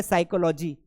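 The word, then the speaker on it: psychology: हैं ये हो गया साइकोलॉजी तो प क्या कर रहा है सर पी को क्यों नहीं पढ़ा इसलिए नहीं पढ़ा क्योंकि एस के साथ अगर प का कॉमिनेशन आएगा सो P will not be pronounced तो ये बड़े ही काम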